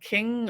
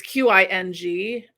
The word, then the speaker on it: Qing: I was always drawn to, um in, like, museum stuff from, there's the, it's, I don't know if it's pronounced King or Qing dynasty, in China. It's Qing, and every time I